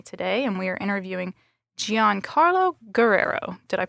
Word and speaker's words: Giancarlo Guerrero: I'm Sarah Arntz, and I have my colleague Grace Holm with me today, and we are interviewing Giancarlo Guerrero. Did I pronounce that correctly?